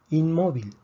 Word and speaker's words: inmóvil: Inmóvil tiene 3 sílabas, termina en consonante que no es ni N ni S. Predecimos que el acento, la fuerza debería estar en la última sílaba, no está. Por lo tanto, escribimos el acento.